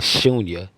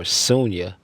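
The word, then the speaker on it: शून्य: All of this happens from a place called Shunya or Sunya. You could pronounce it both ways.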